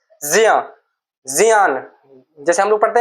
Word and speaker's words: ज्ञ: ये ज्ञा नहीं हो रहा है, यदि ठीक से इसका उच्चारण किया जाए तो इसका ज्या होता है, ज्या, क्योंकि इसका उच्चारण ये किससे मिलकर बना हुआ है, जा प्लस अइया, या इससे बना है, ये आधा जा प्लस आ।